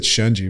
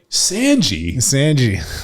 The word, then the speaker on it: Shunji: for John McPhee, and he was like, Sanji. And I stopped him, and I'm like, we have to reshoot this. Like, you need to say his name right.